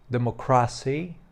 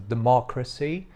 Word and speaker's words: democracy: pre J albo mówi na przykład democracy zamiast democracy i tutaj warto pamiętać o tym że nawet jeżeli w języku angielskim i polskim jakieś słowa są bardzo do siebie podobne to nie oznacza że Akcent Będzie padał na tą samą sylabę co w języku polskim Bardzo często tak właśnie